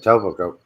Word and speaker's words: Etobicoke: That's how you Etobicoke, pronounce yeah. it. Etobicoke.